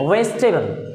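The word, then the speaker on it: vegetable: सब्जी को हम कहते हैं वेजिटेबल, ना कि वेजिटेबल, इट्स वेजिटेबल, वेजिटेबल। जब टी बोलेंगे तो दांत सटेंगे, बाकी चीजें करेक्ट प्रोनाउंसिएशन की होती हैं वेजिटेबल।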